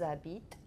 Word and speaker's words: habitent: You weren't here with the pronunciation thing, but do you remember that the E, E, S, E, and E, N, T? It's just silent. Good. Yeah, it's not the same, it's just silent. Okay. So, est-ce qu'elle, and what would you do after the S? Remember, H's aren't pronounced.